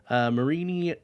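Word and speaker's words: Mareanie: And this week I am going to talk about Marini. I don't know if that's how you actually say it, but that's what I'm going to go with. Marini and its evolution, Toxapex. Marini and Toxapex are both poison water Pokemon.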